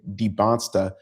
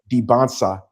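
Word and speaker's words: Dybantsa: Debonsa Debansa. There's no stop. I don't know why we kept saying it. It's the SA. The T is before the SA. Debonsa, AJ Debansa.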